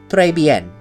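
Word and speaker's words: Très Bien: So, Treyben, S is silent for those of you who don't know about French linguistics.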